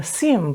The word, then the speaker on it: Xiem: year they had a CM Booth cm is spelled X IEM so I'm sure most